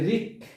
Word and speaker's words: wrick: তাহলে আমরা এখানেও জানলাম w এর উচ্চারণ হয়নি, এখানে w ওয়ার্ড বা অক্ষরের উচ্চারণ হয়নি। তারপর হচ্ছে wrought, এই wrought শব্দের অর্থ হচ্ছে গঠিত, wrought। এরপর হচ্ছে wrick, wrick হচ্ছে সামান্য মুচকানো, wrick শব্দ হচ্ছে সামান্য মুচকানো।